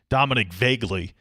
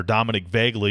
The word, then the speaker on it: Dominic Vaguely: Dominic Vaguely is how you pronounce the Kansas starter. Dominic Vaguely.